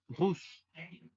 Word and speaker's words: russes: Y para hablar del plural se le agrega una S, russe. recordando que la S al final no se pronuncia.